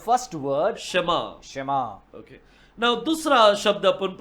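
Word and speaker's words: שְׁמַע: ये तीनों अक्षर को कैसा प्रोनाउंस करेंगे we pronounce the three letters शमा शमा शमा करके बोलना है वी प्रोनाउंस इट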